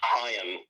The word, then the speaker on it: Haim: Uh, how do you pronounce it? Is it H? It's Haim.